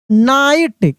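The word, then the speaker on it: knight: ए वी E brave नाइट के क्या है यहां पर साइलेंट है यानी के का उच्चारण नहीं होगा ठीक है ना तो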